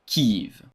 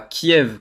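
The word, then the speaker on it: Kyiv: KIV. La capitale de l'Ukraine KIV avec un Y et non pas Kiev comme en russe prononce ce mot en ukrainien. Kiv.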